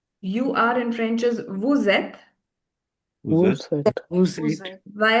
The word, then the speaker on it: vous êtes: When S merges with the sound, when S merges with the vowel, the sound it produces is that of Z. Vous êtes.